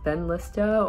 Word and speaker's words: Benlysta: i mentioned it and it was completely just butchered but it ben lista or also known as blumimab which is the